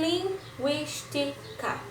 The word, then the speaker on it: linguística: sílaba que veja bem linguística tem 4 sílabas certa e recai na antepenúltima ok diferentemente de sílaba